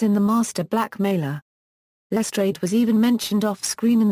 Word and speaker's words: Lestrade: in the series lr's name was pronounced with a longer sound rhyming with trade as opposed to the usual practice in screen or audio adaptations of using the French pronunciation equals in other media